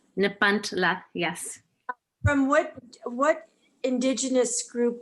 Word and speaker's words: Nepantla: This particular poem, Christina, I'll let you pronounce Nepantla. Nepantla. Nepantla, yes.